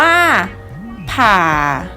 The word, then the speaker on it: ผ่า: 7 คำ ที่ เจ็บ จะ ประกอบ ไป ด้วย พอ RR บวก เสียง วรรณยุกต์ ที่ 3 เสียง วรรณยุกต์ ที่ 3 คือ เสียง ไม้ เอก นั่น เอง ค่ะ คำ นี้ จะ อ่าน ออก เสียง ว่า ผ่า หมอ ผ่า ผ่า นัก เรียน